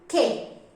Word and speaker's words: que: We pronounce automatically que. When U is in the middle of Q and E, we will pronounce que.